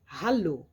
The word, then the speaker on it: Hallo: La lettre H, c'est un H, donc elle est très aspirée comme dans Hallo.